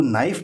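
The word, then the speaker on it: knife: means होता है चाकू तो इसको नाइफ बोलते हैं क नाइफ नहीं बोलेंगे कभी के साइलेंट होता है स्पेलिंग में आएगा के लेकिन बोलेंगे नाइफ नाइफ में चाकू तो के साइलेंट हो गया सी कॉम कॉम कम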